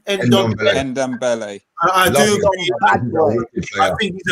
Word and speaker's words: Ndombele: So for me, it would be Pogba and how do you pronounce his name? Ndombele.